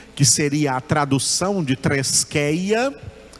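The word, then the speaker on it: θρησκεία: A palavra grega, que se pronuncia treskeia.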